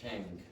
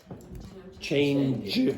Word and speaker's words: change: Now, do you hear sha or Cha. better? Cha. Shang. Now, what was the problem there? Change.